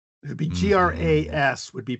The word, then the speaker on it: gras: It would be GRAS, would be pronounced gras, which is fat.